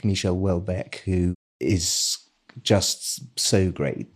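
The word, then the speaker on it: Houellebecq: a French he's a French writer it's it's pronounced helc helc he's a genius very controversial and uh quite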